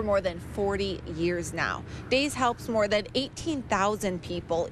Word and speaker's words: DAIS: Just search DAYS, that's spelled DAIS, a little different than it sounds.